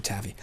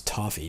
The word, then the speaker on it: toffee: be pretty immune to taffy i find it i mean i'm guessing that's the american spelling the slash pronunciation is taffy everywhere else in the world is toffee t-o-f-f-e-e toffee i find taffy